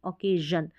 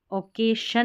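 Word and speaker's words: occasion: ओकेजन, ओकेसन नहीं पढ़ेंगे, ओकेजन, तो एस आई ओ एन यहाँ पर जन पढ़ा गया है। ठीक है, ओकेशन नहीं पढ़ेंगे, ओकेजन, ओकेजन, ज साउंड, ओकेजन यानी कि खास अवसर।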